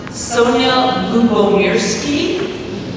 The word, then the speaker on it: Sonja Lyubomirsky: So my name, by the way, is pronounced Sonja Lyubomirsky. You see I have a little guide over there for you for how to pronounce it. It means love and peace in Russian.